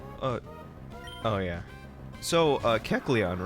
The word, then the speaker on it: Kecleon: oh yeah so uh kecleon right that's how you say it right because as a kid I said Kellen I told you I'm